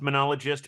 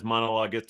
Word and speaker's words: monologuist: You Uh, might think that word is pronounced monologist, but Mike Daisy always says monologuist, so I feel like I have to say that in yeah, honor.